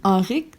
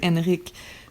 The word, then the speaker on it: Henrik: j'ai dit à Francis, j'ai peur que les gens prononcent trop le prénom Henrik au lieu de Henrik, puis qu'il va passer sa vie à dire non, c'est Henrik et non Henrik.